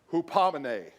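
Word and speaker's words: ὑπομονή: Steadfastness is from a Greek word and you pronounce it hupomone, which means nothing to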